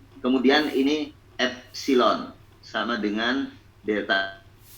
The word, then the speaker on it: epsilon: Regangan itu notasinya epsilon, ini dibacanya epsilon ya, sama dengan delta L dibagi L.